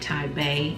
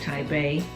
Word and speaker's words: TiBa: in it is a business card and you pronounce it taipei it's t-i-b-a naturals and it's pronounced taipei and basically i got another card it says we at thai bay naturals greatly appreciate your purchase it is our